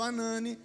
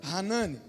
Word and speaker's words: Hanani: de um conterrâneo seu chamado anani ou se você preferir a pronúncia hanani não é este homem